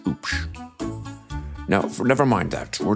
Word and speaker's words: Hoop: The H is silent. It's spelled H O O P. Pronounced oops.